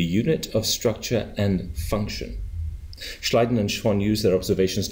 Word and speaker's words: Schleiden: go on in 1839 German biologist Matias J schleiden no that's pronounced correctly good thank you Matias J schleiden and Theodore schan proposed a new Theory based